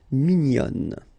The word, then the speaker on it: mignonne: And then another example, mignon will become mignonne. Okay, same thing here, nasal, mignon, and then when you put the feminine form, mignonne. Okay, so let's see the meaning.